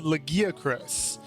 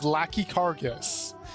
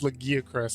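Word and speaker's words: Lagiacrus: So for instance, there's this monster, my favorite monster, mind you, called the Legiacris, and as a kid I read that as Lachicargus, and I called it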